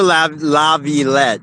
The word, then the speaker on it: Laviolette: I said his name wrong. Peter Laviolette. Peter Laviolette.